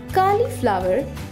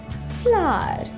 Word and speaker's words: cauliflower: कॉलीफ्लावर इसका गलत उच्चारण है। इसे सही से बोलने के लिए इसके तीन भाग करें। पहले बोलें कॉ, फिर बोलें ली, फिर बोलें फ्लावर। फ्लावर को थोड़ा खींच कर बोले फ्लावर।